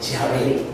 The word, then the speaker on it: Yahvé: ¿Cómo pronunciaban esto los judíos? Pues Yahvé.